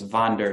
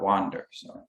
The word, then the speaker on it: Wander: which means hiking friend spelled with a w but in germany it's vonder not wander and which of the